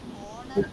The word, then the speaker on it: honor: In words like our, honor and honest, the letter H is silent.